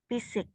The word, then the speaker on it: physics: exam oke oke hold Phisik fisik fisik PH di Inggris itu dia jadi F ya ak penyanyi ada namanya